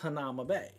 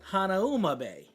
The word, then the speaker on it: Hanauma Bay: And this bay where they usually go snorkeling, and so it's pronounced Hanama Bay, right? Well, my dad, he would call it Hanauma Bay. So I always grew up calling it Hanauma Bay, right?